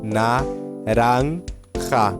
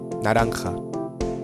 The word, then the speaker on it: naranja: Aqui tem todas as letras que a gente já viu. Tem um A que não é anasalado e tem um J. Então, naranja, naranja, tá?